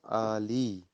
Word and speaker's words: عالی: اس کے بعد ہے عالی، اس کو عالیہ نہیں پڑھنا، عالی.